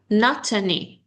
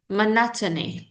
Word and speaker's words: monotony: This is not matony. Monotony.